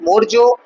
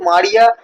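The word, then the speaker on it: Maurya: আচ্ছা, এই উচ্চারণটা অনেকে কিন্তু মারিয়া, অনেকে মরিয়া, অনেকে মৌর্য পড়ছে। তো যে যেটা করতে পারো ভুল হবে না। বিভিন্ন টিচার হোক বা স্টুডেন্টস হোক, নানান মুখে নানান রকম উচ্চারণ পাওয়া যাচ্ছে। অনেক রেফারেন্স বই এটা মৌর্য দেওয়া রয়েছে, কোনো রেফারেন্স বই এটা মারিয়াও দেওয়া রয়েছে। তো আমি এটা মৌর্য হিসাবে উচ্চারণ করছি, তোমরা তোমাদের যেটা সুবিধা সেটা করবে।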